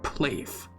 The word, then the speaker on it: PLAVE: you will have heard them, and that is PLAVE. Oh, that's how you pronounce it.